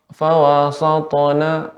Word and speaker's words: فوسطن: Ya, Bapak, pengucapan sin jangan sampai terpengaruh karena dia huruf ta, huruf isti'la tebal ya. Sehingga fawasatona seharusnya sin tetap pada pengucapannya yaitu tipis fawasatona bihi jam'a.